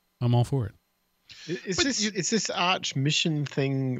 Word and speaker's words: Arch: such a heady joke oh it's pronounced arc yeah like the highest mission the Archangel that kind of thing that's